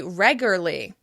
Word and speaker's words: regularly: "Regularly" is a tricky one, so people may say "regurly, regurly."